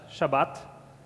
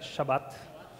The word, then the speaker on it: Shabbat: In Hebrew, it's pronounced as Shabbat. Say that, Shabbat.